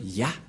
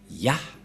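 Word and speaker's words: יה: Cette forme se prononce Yah.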